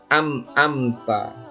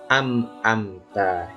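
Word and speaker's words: أنعمت: yang salah membaca biasanya Ampa nah anak-anak biasanya ada yang salah membacanya Ini amta yang betul Bagaimana an amta alaihim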